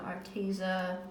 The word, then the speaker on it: Arteza: I'm using Arteza, that's how you pronounce it, watercolor markers.